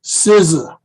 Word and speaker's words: SZA: Yeah, it's pronounced SZA.